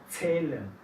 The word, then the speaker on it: Zählen: La Z suena un poco más como TS. Medizin. No escucho. Medizin. Zahl. Zählen.